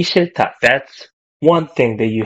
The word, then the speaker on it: 싫다: So there's this H bottom letter as well. You don't want to read it. So 싫다. But it sounds like ta, right?